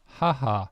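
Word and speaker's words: 母: And mother is pronounced haha. So it sounds like laughing.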